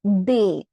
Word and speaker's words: des: We have they.